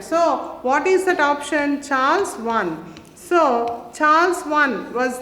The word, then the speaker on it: Charles: revolution so option b charles one actually we should not pronounce that as the chalice one but we should pronounce it as the charles one charles charles one is